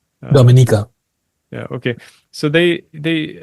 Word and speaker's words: Dominica: it's pronounced different Dominica I call it Dominica but it's a Dominica yeah okay so they